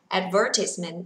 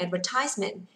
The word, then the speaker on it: advertisement: nhá các bạn nhá, có hai cách đọc, thích đọc cách nào cũng ok, không có vấn đề gì cả. Now, listen to me and then repeat, advertisement and advertisement.